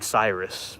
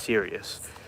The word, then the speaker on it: Sirius: was just serious and I kept saying Cyrus but that's not how you say it it's serious and I've seen it before